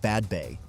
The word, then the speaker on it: Badbea: Badbea, pronounced Badbay, belongs to a rare category, a settlement created by clearance rather than destroyed by it.